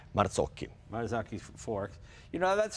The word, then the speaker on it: Marzocchi: Marzocchi.